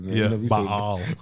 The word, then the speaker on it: Baal: Yeah, you know, Baal. We say Baal. No, he said Baal. He breaks it up into two syllables. Which that's it should be. I'm about to say probably how it should be said.